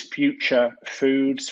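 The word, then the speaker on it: Phuture: Another company that's worth mentioning is Future Foods, which is spelled P-H-U-T-U-R-E.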